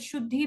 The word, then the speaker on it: Shudh_hi: how should the game it is written as should he and pronounce that should be because we were sure